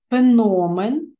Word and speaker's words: феномен: цьому слові підкреслена правильно феномен бачимо що наголошений другий склад тобто звук О а наголос поставлений на третьому складі тому ми вже